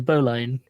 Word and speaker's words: Bowline: Yeah, it's bowline. It's spelled bow like bow. Yep. And then line like line.